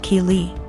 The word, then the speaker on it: Kei: calling my daughter Kelly my daughter's name is Kei pronounced key so after school was